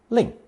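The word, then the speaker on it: 令: person kneeling respectfully below pronounced fourth tone link it's a depiction of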